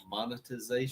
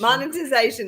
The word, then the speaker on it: monetization: There's no T R. Say it for me. Monetization? Yeah. Monetization. Monetization.